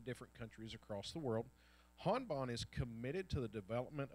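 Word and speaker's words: Hanban: told me she's like most people goes hand man but it's Han Bond it is the headquarters for all of the Confucius Institutes in all the different countries across the world Han Bond is committed to the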